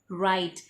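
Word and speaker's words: write: अब हमारा अगला वर्ड है राइट। राइट में तो पहला लेटर ही साइलेंट है W, तो अब हम इसे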